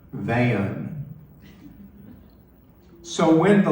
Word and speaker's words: Van: She pronounced my one-syllable first name as two syllables, not Van, but Van.